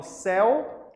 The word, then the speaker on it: céu: ditongo aberto por exemplo eu falo céu e seu Ó alguém parecido né céu e seu em aberto céu seu é fechado Kassab eu céu a pronúncia é aberta existem alguns ditongos abertos